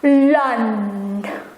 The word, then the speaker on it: land: with in english but the l letter i find that you have to swirl your tongue then don't forget to pronounce the d it becomes lond and landed in dutch